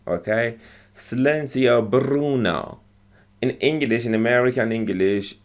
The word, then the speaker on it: Bruno: say the word bruno you see how they roll their r's okay slenzio bruno in english in american